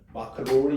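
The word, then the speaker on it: Maclaurin: 맥로린 시리즈인데 일반적으로 구별 안 해요. 53페이지 메뉴에 나와 있네요. 53페이지 메뉴에 0으로 전개할 때 영국에서 공부하신 분들은 마크 로린 이렇게 말씀하시더라고요. 어쨌든 뭐 좋을 대로 발음하시고 어쨌든 이제 중요한 거는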